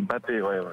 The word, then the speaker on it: Mbappé: J'ai vu une interview et il l'a dit, ça se prononce Mbappé. Mbappé, s'il l'a dit, alors d'accord, c'est très bien.